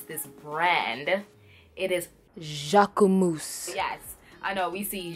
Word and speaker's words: Jacquemus: differ but after further research on how to pronounce this brand it is Jacques ooh moose yes I know we see Jacques moose Jacques